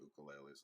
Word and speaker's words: ukulele: And but we've been watching it, and they talk about the ukuleles a lot. Yeah, it is ukulele. I just grew up in the '70s when it was mispronounced all the time.